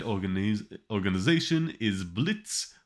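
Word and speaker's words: Blitzø: said organize organization is blitz with a silent o but i keep slipping into pronouncing it blitzio because i've been reading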